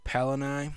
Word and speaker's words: Palanai: So the name of the new place is called Palanai, and it's spelled P-A-L-A-N-A-I.